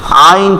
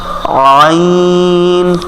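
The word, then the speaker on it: عين: হবে আ যেখান থেকে আইন ঠিক ওখান থেকে আইন আইন আমাদের কণ্ঠনালীর ঠিক মধ্যখান থেকে উচ্চারণ হবে আইন আইন যদি আপনার এই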